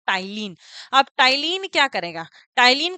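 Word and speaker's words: ptyalin: टाइलिन भी कहते हैं अब इसमें पी क्या है साइलेंट है ठीक है तो यहां पर इसको क्या बोलेंगे आप टाइलिन अब टाइलिन क्या करेगा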